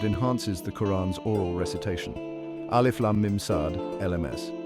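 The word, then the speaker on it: المص: Alif Lam Mim Sad, LMS. Pronunciation pronounced as 4 distinct letters, Alif Lam Mim Sad.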